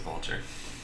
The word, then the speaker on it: Vultr: There's a service called Vultr, which I'm probably going to use, or rather it's called VaultR. I'm sure they want to pronounce it Vultr.